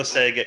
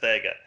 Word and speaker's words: Vega: make any sense because there's no Sega in my name it's pronounced Vega so I think he's